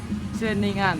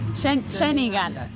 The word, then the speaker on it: Ceningan: Ceningan. Ceningan.